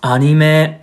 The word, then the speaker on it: anime: So, anime? It's actually pronounced anime.